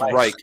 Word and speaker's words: Reich: It's Reich, and it's not the coaching.